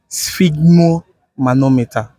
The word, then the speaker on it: sphygmomanometer: and right come again let's get it right spigo manometer okay spell it spell it spell it and we good